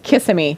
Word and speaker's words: Kissimmee: about the way that people pronounce Florida words, and they were like, no, it's Kissimmee.